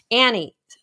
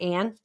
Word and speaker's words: Ann: So Annie, is it Ann? Ann. So sorry. I said your name wrong.